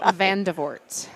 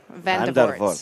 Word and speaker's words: Vandevoort: I married a Dutchman. It's Vandevoort. Vandevoort. Vandevoort? Vandevoort. Vandevoort. Yeah, no, the R is the faux pas.